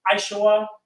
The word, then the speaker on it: Esau: Comes from the seed of Esau, which is Aishwa, and means hairy.